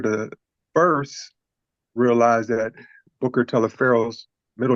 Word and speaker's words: Taliaferro: Booker is spelled Taliaferro, but it's pronounced Telefero.